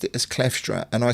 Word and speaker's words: Kleefstra: Because Gary pronounced it as Kleefstra, and I said Kleefstra. Is it double E or one E? Kleefstra.